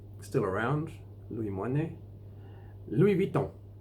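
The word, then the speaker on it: Louis Vuitton: around Lou my knee Louie Vito Louie don't the French had a bit different than air they soften the V it'll be a most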